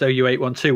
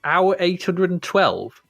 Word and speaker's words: OU812: you'd actually written that it's pronounced ou812 when I first saw it I was like hour 812.